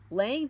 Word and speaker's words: Laing: contributions of Rd Lang Lang is spelled l a i n g for anybody that wants to look him up R D Lang number